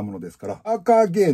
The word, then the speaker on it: AKG: たものですからアーカーゲーのえ AKG って書いてアーカーゲーって読むんですけど 701